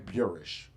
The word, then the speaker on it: Burish: His name is Dan Burish. Reminds me of Van Buren. Rhymes with Van Buren.